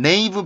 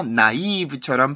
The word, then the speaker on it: naive: 나이 나이 나이 내요 단어를 발음할 때는 메이브 발음이 아니라 나이 부처럼 발음을 해 줘야 그래서 이 단어 보시면은 네이브로 읽을 확률이 큽니다 그리고 실제로 많은 분들이 그렇게 읽고 계시긴 한데 발음 기호가 그렇게 되어 있지 않습니다 그러니까 영원의 스펠링 으로